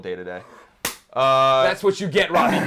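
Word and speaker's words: Dedede: He says, Colin, it's pronounced D-to-D, not day-to-day. He's talking about... Hey, Robbie Guns, if you knew anything about Smash Bros., you know that in Japan, he is called day-to-day.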